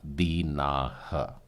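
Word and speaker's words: דינה: इसे उच्चारण करते हैं बाइबिल में दी ना शब्द मिलता है लेकिन एवरी उच्चारण इसका आएगा बिना उम्मीद करते हैं की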